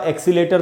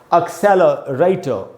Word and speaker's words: accelerator: इसको पढ़ेंगे दोस्तों, एक्सेलरेटर, एक्सेलरेटर। इसको एक्सीलेटर नहीं पढ़ेंगे।